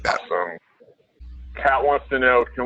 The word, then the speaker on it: awe.sm: Unfortunately, we don't support, we support awe.sm, I think that's called, pronounced awesome, but that's the only other link shortener we support at this time.